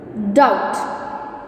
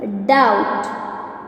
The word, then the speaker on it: doubt: Third one is doubt. Third one is doubt. In this, which one? Yes, B is the silent letter.